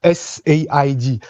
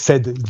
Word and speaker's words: Said: but we say just said you can say just said like past yeah like saying past simple okay say thank you